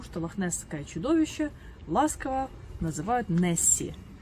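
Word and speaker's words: Nessie: В английском же языке добывается буква Y, которая читается как И. И получилось Несс, которое название озера, и буква Y добавилась Несси.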